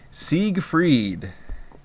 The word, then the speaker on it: Siegfried: The first part is pronounced like the second. It's Siegfried.